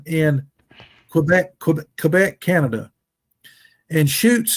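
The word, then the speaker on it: Chutes: Quebec Quebec Canada and shoots is spelled c hu Tes the Beast of seven shoots CH hu Tes and you can you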